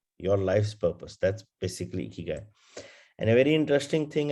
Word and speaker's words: ikigai: person talking about it, they have this smile on their face, ikigai. So that's how it's supposed to be pronounced. So your smile needs to be there first, and then it's ikigai.